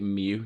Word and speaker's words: mu: mu is in mu i want to say that's mu but they pronounced it mew not mu so there you go but